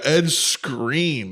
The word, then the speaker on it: Skrein: Oh yeah, Ed Screen. That's his name. It's a pretty funny name to be a screen actor named Ed Screen. But it's spelled Skrein.